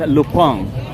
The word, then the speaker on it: Lupin: In French, the lupin the lupin the lupin name is actually originally French and uh they pronounce in French is lupang. So here in English and uh in in in in English we call that lupin but in French they call that lupi.